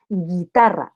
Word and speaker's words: guitarra: Cuando la G estaba ante ante una U y ante una I, no se pronuncia la U. Entonces digo guitarra, no digo guitarra.